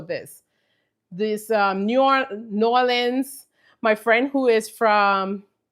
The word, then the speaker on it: New Orleans: New Orleans, she's like, "It's not New Orleans. You're pronouncing too many of the letters."